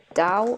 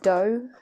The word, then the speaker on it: Dhow: really cool boxes um i think you pronounce this as dao or do um obviously from india